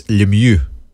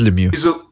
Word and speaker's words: Lemieux: By the way, Cyril Lowe in the chat is asking, how do you pronounce it in Canada? It's Lemieux. Lemieux. Yeah. It is Lemieux.